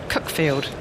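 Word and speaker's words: Cuckfield: chase was playing for Cooke field is how you pronounce it fielding the Sussex Premier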